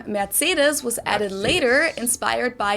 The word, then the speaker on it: Mercedes: most Americans called this Mercedes Mercedes in German we pronounce it Mercedes so Mercedes Mercedes Mercedes